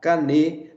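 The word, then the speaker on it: קנה: é caneta ok então essa é a forma de pronunciar canê no hebraico que significa várias vara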